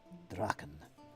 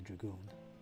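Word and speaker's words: Drachen: Draken. Shouldn't say dragoon. Say draken. Grune Draken would be the proper way to say it.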